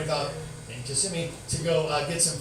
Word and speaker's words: Kissimmee: uh yeah Kissimmee and my sister goes look kiss me I go Kelly idiot it's Kissimmee and so you're making me say it right I said the old Indian it's just no it's kissing I'm like